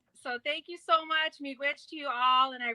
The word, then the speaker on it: miigwech: Miigwech. Say it one more time. Miigwech. Miigwech. Miigwech. Yes, miigwech. All right, miigwech. Yeah. So thank you so much, miigwech, to you all, and I really appreciate having me on.